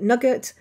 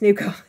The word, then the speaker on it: nougat: If you're wondering what nougat is, and you normally call it nougat, it's definitely pronounced nougat. So call it nougat from now on.